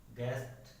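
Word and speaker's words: guest: के बाद आता है, अगर यू किसी वर्ड में जी के बाद आता है तो जो यू है वो क्या हो जाएगा साइलेंट हो जाएगा। जैसे एग्जांपल देखिए आप, गाइड, गेस्ट, गार्ड, ठीक है, बॉट, ला।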